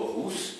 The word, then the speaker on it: rus: viennent directement du mot rousse, R-U-S. Je dis rousse, hein, parce que le U se prononce ou toujours, voilà, sinon on va dire russe, mais c'est rousse.